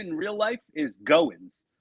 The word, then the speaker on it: Goins: But, my shoot last name in real life is Goins, spelled Goins, and people have been calling me Groins my whole life.